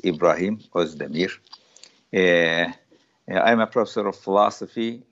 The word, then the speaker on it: İbrahim Özdemir: My name, as you pronounced very well, is a very well-known name. It's Ibrahim Özdemir.